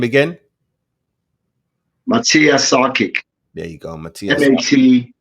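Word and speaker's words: Matija Šarkić: the brother on screen say his name again Matia sakic there you go Matia hen I hyen J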